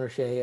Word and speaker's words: O'Shea: We've had Sean O'Shea over at WordPress. VIP. You can just go with Osh. It's Sean Osh.